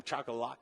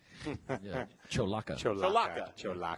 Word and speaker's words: Cholaca: And then Ira from Chakalaka. How do you say Chakalaka? Cholaca. I promise that was the first time I need to have to be corrected.